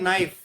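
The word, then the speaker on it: knife: Fourth है नाइफ, इसमें के साइलेंट रहता है।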